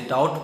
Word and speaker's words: doubt: एक साथ आ जाए, यानी बी के तुरंत बाद टी आ जाए, तो बी साइलेंट हो जाएगा। जैसे बी टी एक साथ है इसलिए डाउट पढ़ते हैं, डाउट मतलब संदेह होता है। डी ई बी टी को हम डेट पढ़ते हैं, डेट का मतलब